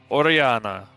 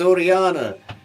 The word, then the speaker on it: Orianna: Orianna. Orianna, you're muted. I meant to do that. Hello, my name is Orianna. It is pronounced just like the dungeon master said it.